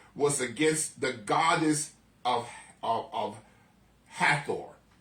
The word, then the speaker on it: Hathor: against the goddess of Hathor. No, it's like Heather, like we would say Heather, but Hathor. Yes, it was against the goddess of that's why I had to think about it, because we would pronounce it Heather.